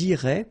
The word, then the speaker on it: iraient: And then if you look carefully, you've got A-I-E-N-T, okay? But then phonetically it goes like E, okay? So technically these form and these forms here are pronounced the same way, and it goes like irait, okay?